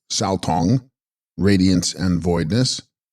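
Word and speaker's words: gsal-stong: Gsal Stong, pronounced Sao Tong, radiance and voidness.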